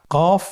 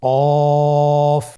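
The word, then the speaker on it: ق: কফ উচ্চারণের ক্ষেত্রে একটু মোটা করে উচ্চারণ করতে হবে। আপনারা আমার সাথে আবার বলুন কফ। আরেকবার চেষ্টা করুন। কফ। কফ উচ্চারণের ক্ষেত্রে অবশ্যই তিন আলিফ টেনে পড়তে হবে।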